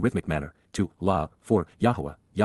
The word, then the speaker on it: Yahowah: manner, to, La, for, Yahowah, the proper pronunciation of the name of Eloah, God as directed in